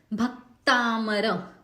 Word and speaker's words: भक्तामर: जैसे कि पहला ही जो शब्द है भक्तामर, भ जो है ह्रस्व है, क से त जुड़ा हुआ है, वो जोड़ अक्षर हो गया। सो इस जोड़ाक्षर के पहले भ ह्रस्व आया है तो हमने भ पे जोर लगाया, तो क से त का उच्चारण जो है वो सही होगा।